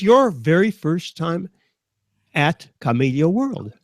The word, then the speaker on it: Kamailio: Kathleen, how do you pronounce Kamailio World? I just say Kamailio.